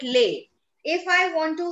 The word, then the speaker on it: les: end of any word, if there is a consonant at the end of any word, we do not give it its sound. That is why we don't call it lace, we call it lay.